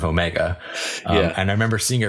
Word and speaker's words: Omega: But when this new character is introduced, she pronounces her name Omega. Omega. My name's Omega. Which is really just it's a New Zealand accent of Omega.